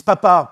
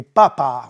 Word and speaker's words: papa: D'ailleurs, en italien, ils disent papa pour le pape et papa pour le père. Simplement, l'accent tonique va changer. C'est papa pour le papa et papa pour le pape.